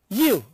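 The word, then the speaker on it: ewe: Here, see, I have written here you, E-W-E, it is pronounced as Y-O-U.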